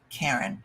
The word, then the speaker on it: Karin: My name is pronounced Karin, something a lot of people struggle with.